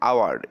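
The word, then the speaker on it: hour: মতো উচ্চারণ হয় না, যেমন আওয়ার্ড, এখানে কিন্তু এইচটা সাইলেন্ট, উচ্চারণ হচ্ছে না, সুতরাং যেটা আমরা সাউন্ডের উপর ডিপেন্ড করে বলবো। হ্যাঁ, আওয়া তার মানে আতে কি ভাওয়েল, সুতরাং অ্যান বসবে।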